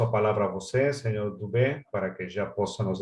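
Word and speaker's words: Dubeux: ¿Es Rafael Tubeus o Rafael Dubó? Si tem que conectar o micro. Dubé. Dubé, ótimo, então.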